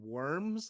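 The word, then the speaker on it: wyrm: that's oh w-y-r-i-c yeah it's pronounced Worm but it's literally literally like a worm so every time I'm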